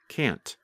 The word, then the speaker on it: can't: And if you are speaking and want to be very clear, simply pronounce the letter T, like can't.